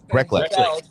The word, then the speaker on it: Greklek: It's exactly how it sounds. Greklek.